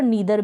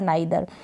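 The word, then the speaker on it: neither: फिर यहाँ पर नाइदर है, आई के रूप में भी और नीदर भी इस ई आई को पढ़ा जाता है, नीदर और नाइदर।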